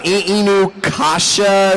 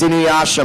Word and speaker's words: Inuyasha: Inukasha? Something like that? Inukashi? It's Inuyasha, Mom.